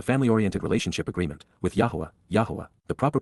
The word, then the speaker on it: Yahowah: e Barth the family oriented relationship agreement with yahwah yahwah the proper pronunciation of the name of eloa God has